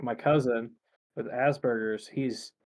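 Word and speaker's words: Asperger's: He's got was it Osberers? Oh, Asberers. Asberers. Yeah. Yeah. I always want to say it like that, but the fact that it has the first part in there is like, no, that's obviously wrong.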